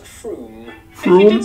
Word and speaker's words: Frome: Ha, ha, ha, ha, ha, ha, wrong, it's not Frome. F-R-O-M-E, it should be blitheringly obvious, is pronounced Froome.